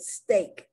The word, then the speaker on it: steak: not pronounced like e sometimes it's pronounced like a as in the word steak s-t-e-a-k sometimes it's pronounced